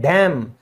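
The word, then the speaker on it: damn: तो उसको कहते हैं डैम। यहां पे भी क्या है? एन साइलेंट है।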